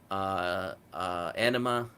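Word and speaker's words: Ænima: tool is my favorite anima is my favorite album of theirs I believe that's how you pronounce it it's spelled differently and I'm more like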